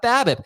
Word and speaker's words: BABIP: pronounce it babip but I actually think you pronounce the acronym the way the acronym is spelled as if the acronym is a word not based on the